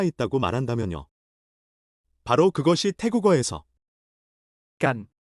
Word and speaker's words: กัน: 바로 그것이 태국어에서 깐이 하는 역할입니다. 깐 건처럼 발음하지만 소리가 더 부드러워서 거의간에 가깝습니다.